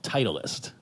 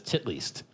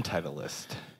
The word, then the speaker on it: Titleist: in my head is tit least because that looks like the German pronunciation of it and Titleist isn't a